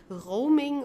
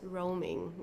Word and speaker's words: Roaming: So we don't say it as it would be in German like roaming or so it's roaming. Okay.